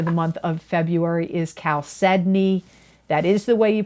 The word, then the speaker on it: chalcedony: for Scorpio for the month of February is chalcedony. That is the way you pronounce it, even though it doesn't look like it. It is chalcedony, not chalcedony. And it is spelled, people have asked me to spell it, Chalcedony.